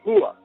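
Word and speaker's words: هو: eh referido a Dios se dice hua pronunciado con no como Hache aspirada sino con lo más profundo de de la garganta cerca del esternón eh eso pronunciado con una cadencia como de fas sostenido era eh lo que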